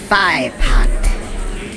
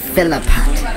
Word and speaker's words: Philpot: Introducing Firepot. Yo, that's not how you say my name, bro. Philipot. Bro, do you see two L's in that?